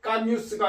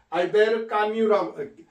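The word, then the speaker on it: Camus: 자, 원래 프랑스에서는요. 맨 뒤에 그 자음이 오면 그 발음을 안 합니다. 그래서 알, 알볼트 까뮤스가 아니고 알베르까뮤라고 까미라고 이렇게 프랑스어로 발음합니다. 알베르 까미. 그래서 맨 뒤에 나오는 그 자음은 프랑스에서는 발음하지 않습니다.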